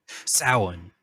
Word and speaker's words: Samhain: I looked up the pronunciation. Yes. Samhain.